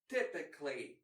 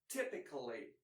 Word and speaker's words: typically: Every, or less commonly, every, typically, or less commonly, typically.